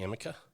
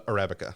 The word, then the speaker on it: Arabica: the Robusta and the how do you say Amica uh Arabica Arabica is the reason the the Arabica is